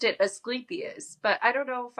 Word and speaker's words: Asclepius: Vitellius, he got claimed I always say his name wrong, and I figured this out while reading this because I was like, wait, why is there a U in there? I always said it as Asclepius, but it's uh Asclepius?